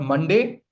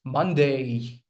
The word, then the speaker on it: Monday: It's not Monday, it's Monday. A, Monday. Okay, it's not Tuesday, it's Tuesday.